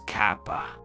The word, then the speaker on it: Kappa: Kappa please pronounce it as Kappa runos suawa here are